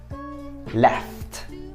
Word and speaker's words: left: Left, left dengan akhiran konsonan T.